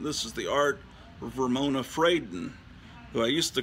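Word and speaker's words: Fradon: is the art Ramona frayden who I used to call fredon because I thought oh it's like a Spanish name but no it's not pronounced fredon it's frayden and I know that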